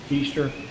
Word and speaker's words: Kistler: It is Keister. That name is spelled Kistler.